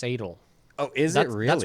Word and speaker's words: S8: The other Gumiho's what Skull or S8 I think it's pronounced Sadel.